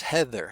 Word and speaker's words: Heather: Now do you hear the difference of these th's? Theo is breathy and takes no sound with it. And Heather has a vibration of a sound with it. So this is called voiced and unvoiced.